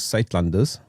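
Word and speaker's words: Suidlanders: The organization is Zuidlanders. So it's less German sounding than what you made it sound.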